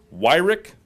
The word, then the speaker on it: Weirich: District Attorneys General Weirich you were worried I was gonna mispronounce that it's like it's not phonetic you got to pronounce it right Jodi Pickens and mark